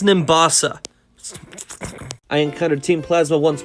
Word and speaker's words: Nimbasa: embor once I reached Nimbus Nimbus come on man it's pronounced Nimbasa I encountered Team Plasma